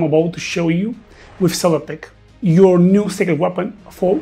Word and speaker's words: SellerPic: That's exactly what I'm about to show you with Seller Pick, your new secret weapon for product visuals. Seller pick, pronounced seller pick, is an AI powered tool designed for e-commerce sellers, marketers, and content creators.